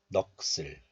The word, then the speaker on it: 넋을: So this is pronounced like 넋을, 넋을.